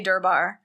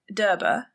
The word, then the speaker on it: Durbar: So Americans say Durbar, the English say Durbar, and it just means the court of Delhi.